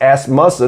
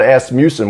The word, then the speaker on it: Asmussen: it straight from from steve on how to pronounce the name the correct way it's ass muscle not as mucin which i've been saying ass mucin all my life so i apologize to the